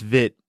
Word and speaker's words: Witt: one is the skater Katarina Witt. Katarina Witt. And this is just a It's actually pronounced Vit.